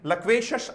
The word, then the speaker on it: loquacious: इसको लोकेशस नहीं बोलेंगे, लक्वेशस आप इस वर्ड को बोलेंगे। शीयस नहीं होता, लगभग में इसका प्रोनाउंसिएशन ही शश होता है, लेकिन हर जगह शश नहीं होगा।